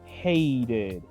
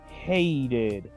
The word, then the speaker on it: hated: Se pronuncia hated. Hated. Como una ID al final.